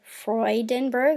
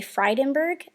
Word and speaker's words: Freudenberg: And I say Freudenberg, like Sigmund and Freud. But a lot of people say Freudenberg around here.